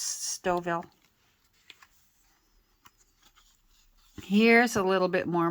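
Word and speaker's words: Stouffville: from me I know it looks like it should be pronounced Stu Ville but uh if you live around here that's stoil here's a little bit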